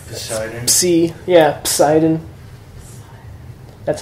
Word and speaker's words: psi: And in Greek, you do pronounce the P more, whereas in English, you would drop the P and just pronounce it like a silent P.